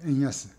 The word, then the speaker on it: 円安: 엔야스 여기 엔야스 이렇게 되어있죠. 엔야스 음과 훈을 읽었습니다.